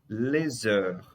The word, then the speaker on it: les heures: Les heures. O Szinho aqui ligando com a vogal, tá? Com a vogal da palavra heure.